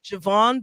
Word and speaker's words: JaVonne: It's actually JaVonne, but you could say it however you like. I did. I said JaVonne.